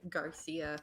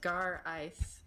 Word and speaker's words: Garais: So now I can just, they never will pronounce it right because they always want to say like Garcia for some reason. But Garcia. there's no C in my name. It's just Gar Ice.